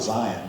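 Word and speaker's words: Xian: But again, even debates about, the different, because my name, we pronounce it Zion, but it's still Christian. X-I-A-N, the X is the cross.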